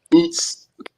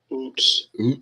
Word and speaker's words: Uz: Oots. Strong's H 5780. Oots. Yeah. That's it. It's only one way to pronounce that one.